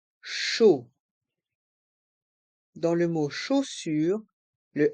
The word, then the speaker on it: chaud: Les consonnes C et H se prononcent CH et les voyelles A et U se prononcent O, comme la lettre O. Chaud.